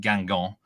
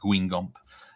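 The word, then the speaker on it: Guingamp: I'm strong on it uh Paris FC against gangon um that's the pronunciation there some might think it's pronounced Gump it's one of those difficult ones um over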